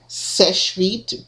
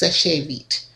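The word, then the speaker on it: Seche Vite: of people pronounce it Sèche Vite, but if you look at the literature from the company, it says it doesn't use the accent on the E, and so it's pronounced Sèche Vite.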